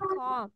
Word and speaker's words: comb: সো এটাকে বি উচ্চারণ করা যাবে না, ঠিক আছে? বলতে হবে কম।